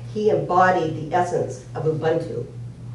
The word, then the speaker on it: Ubuntu: embodied the essence of Ubuntu I'm not even saying it right it's probably U I think it's Ubuntu remember that oo Boon to okay so it's a